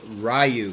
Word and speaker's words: Ryu: Now this particular statue had a very low edition size, but the Prime One Studio Ryu, that's how I pronounce it.